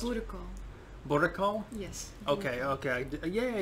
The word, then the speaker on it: boerenkool: actually got and what's it how is it pronounced political boricol yes okay okay yeah i did it right